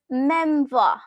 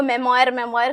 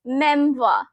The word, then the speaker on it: memoir: It's pronounced as memoir. मैंने अपनी पूरी स्कूल लाइफ इसको मेमोयर करके पढ़ा था, but it's memoir. Okay, memoir. It's British English. American English में करोगे तो war. बस वो आपके ऊपर एहसान